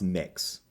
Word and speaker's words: Mx: i'm supposed to uh mx is mx is pronounced mix thank you well now